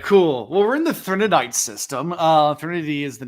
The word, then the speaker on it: Threnody: Well, we're in the Threnodite system. Threnody is the name of the planet that we're on. This is the only novella. By the way, where- I kept thinking it was Threnodite, but on the audiobook, it kept saying Threnodit.